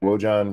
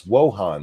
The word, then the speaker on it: Wojan: News says Patrick Wojan resigned. Yes, he did. Yeah. It's Wohan, the J is signed.